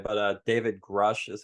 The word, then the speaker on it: Grusch: yeah, Grush, or whatever you say, but David Grush is how people typically say it, but it's spelled Grusch, I believe.